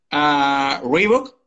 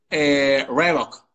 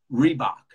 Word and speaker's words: Reebok: Reebok. No, eso es pronunciada a la española. En inglés decimos... Reebok. Reebok. Reebok.